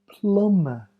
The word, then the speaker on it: plumber: Dum comb WB tomb m B the middle B is silent bom Plummer dummer combing numbing climbing